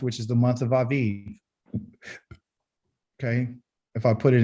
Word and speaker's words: Aviv: the first month which is the month of aviv okay if i put it in the proper letters it would be a b i b i b but it's pronounced aviv because the the v sound is really from